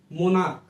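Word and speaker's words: monarch: একইভাবে দেখুন মোনাক মানে সম্রাট, তাহলে এই মোনাকের সিএইচটাও এখানে কিসের মতো উচ্চারণ হয়েছে?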